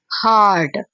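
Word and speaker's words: heart: इसे थोड़ा सा लंबा प्रोनाउंस करेंगे। हार्ट और जो होता है हर्ट। एच यू आर टी हर्ट। उसे शॉर्ट प्रोनाउंस करते हैं हार्ड।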